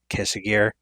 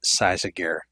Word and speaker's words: Cysaegir: which by the way the current staff pronounces it like quesa gear the former staff that created it pronounces it size of gear Choose Wisely so the